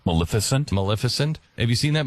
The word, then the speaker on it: Maleficent: I I saw that Melissant, how do you say her name? Melissan, right? Maleficent.